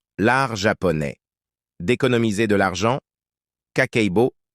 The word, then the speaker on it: kakeibo: japonais d'économiser de l'argent kakeibo prononcé kkererbo est une technique budgétaire